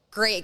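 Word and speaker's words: Grimaud: my grandma's nephew somewhere somebody somewhere my family great guy has a place in the south of France uh that he let us use in a place called called GMA which is spelled g r i m a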